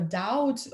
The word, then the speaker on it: doubt: Doubt, да, вот второй пункт, item у нас doubt, be is silent. В этом слове be не читается.